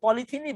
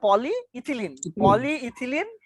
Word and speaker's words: polyethylene: আমি পড়ি yes স্যার বলেন পলিইথিলিন যেটাকে আমরা পলিথিনই বলি, পলিইথিনও বলে, এটাকে পলিথিন বলি আমরা, কিন্তু এটা পলিইথিলিন।